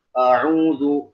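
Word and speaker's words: أعوذ: Jadi bacanya bukan A tapi O. A'udzu, O ini udah bunyi tebal. O ini udah bunyi tebal, udah bunyi tafkhim.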